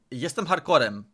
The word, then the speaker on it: jestem hardcorem: Well, didn't like that laughing sound at the end there, but jestem hardcorem.